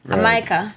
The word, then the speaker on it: Amyka: long long time ago they don't pronounce the j in jamaica so they would call it a micah so there we go